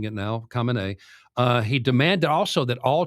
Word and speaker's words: Khamenei: I'm trying to pronounce it the way they're all pronouncing it now, Khamenei.